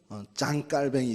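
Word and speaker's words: Jean Calvin: 되는건데 존 칼빈 입니다 아 이제 그 쪽 발음으로 짱 깔 뱅이 되겠죠 장로교의 창시자 도유 아니구요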